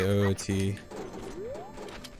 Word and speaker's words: OoT: amount of new stuff how do I pronounce OT I say oot yeah back in the